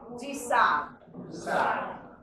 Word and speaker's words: Du Sable: And for the record, my personal soapbox is for us to learn how to pronounce his name properly. So his name is Jean-Baptiste Pointe. Du Sable.